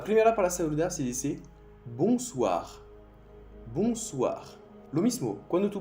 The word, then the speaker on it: bonsoir: La primera para saludar se dice bonsoir. Bonsoir. Lo mismo, cuando tú ves O y N en francés, hace el sonido sonido con el nariz dentro. Bonsoir.